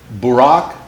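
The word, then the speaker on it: ברק: from the heavens okay in aramaic you pronounce that lightning from the heavens barack the day after barack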